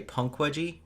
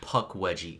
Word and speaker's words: Pukwudgie: yeah and then you might hear me say Punk wedgie but that's just me being wrong just we've been pronouncing around this whole time yeah it's Puck wedgie Puck wedgie that sounds like a character in